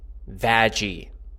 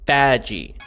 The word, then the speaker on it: Vaggie: Especially with the next character on the docket, Vaggie. Yes, that's how you pronounce it. Vaggie.